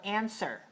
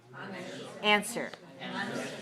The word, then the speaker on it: answer: has a silent letter the W you write the W but you don't pronounce it all right so you hear this but we don't hear the whoop right so answer answer right okay to reply